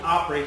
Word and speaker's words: opry: It's a representation of dialect pronunciation of opera.